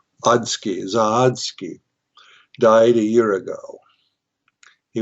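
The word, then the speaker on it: Zawadski: Um, a man by the name of Bob Zo or I'm gonna spell it. Z A W A D S K I Z Z Oski. Zahodsky died a year ago.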